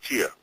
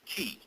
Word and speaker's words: chi: there who represented Montauk Chia. He was the key master. Yeah. Right. Chi is also known as ki. It's the same word, just pronounced differently.